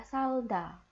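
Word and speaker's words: 살다: Jadi contoh ini ada siet berarti dibaca s vokalnya a berarti a. Real karena dia bacim berarti dibaca l. Oke, tetap dibaca L. Kenapa? Karena huruf selanjutnya adalah konsonan juga. Diget berarti karena dia di awal dibaca D kemudian ada vokal A. Jadi cara baca ini adalah salda kayak gitu ya.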